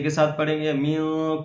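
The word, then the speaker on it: مِن: کر پڑھیں گے استغفر اللہ ربی۔ اگلا لفظ ہجے کے ساتھ پڑھیں گے۔ من کلی، میم نون زیر من، کاف لام پیش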